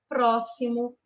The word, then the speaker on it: próximo: o som de c já as palavrinhas explicar próximo pedir e expedição São escritas com x porém o som da letra X tem som de s palavras que são escritas